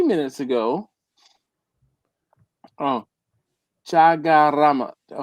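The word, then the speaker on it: Chaguaramas: Oh, Chagaramas. The U is silent.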